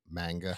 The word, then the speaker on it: manga: the way that we say something, if you Yeah. spell it out, it's Yeah. manga. But if you're saying it in Japanese, it's Manga.